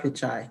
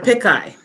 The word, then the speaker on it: Pichai: alphabet inc mr sundar pichai was to testify before the house and he was for he was referred to as mr pikai mr pishai now vice president harris